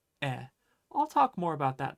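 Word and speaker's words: へ: Anyway, the point that I'm trying to make is that in uchi e iku, that he, it looks like he, but it's always going to be pronounced e.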